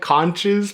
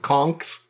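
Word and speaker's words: Conchs: It looks like conches, but it's pronounced conks.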